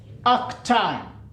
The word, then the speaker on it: arctan: So theta is, you can pronounce this as arctan.